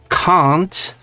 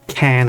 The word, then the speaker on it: can't: The way the word, which I pronounce as can't, is pronounced, I cannot tell a difference between can and can't. You know, yeah, no, you're because right. the T is not pronounced.